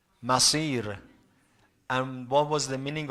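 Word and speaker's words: مصير: but I said that one of them is pronounced with Sad, which is the correct one, another one with Sin, which is not what Quran talks about. Masir.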